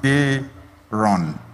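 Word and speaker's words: Daaron: D-A-A-R-O-N. But it's pronounced Daron.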